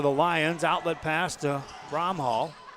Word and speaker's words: Bromhall: Outlet pass to Bromhall. Bromhall takes it inside.